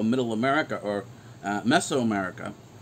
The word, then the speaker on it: Mesoamerica: it's mesoamerica and actually in greek it's properly pronounced as miso america the miso is medium